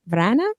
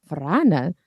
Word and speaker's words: Vrana: and vampire expert Vrana. Oh, I said it wrong already. No, you're fine. You're good. It's good. It's good. You rolled the R. It was good. I did. Vrana.